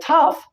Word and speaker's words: tough: Well, tough, well, we don't know when to actually pronounce GH as fit sound. Here, we didn't pronounce it in light in the first place, but here we pronounce it f.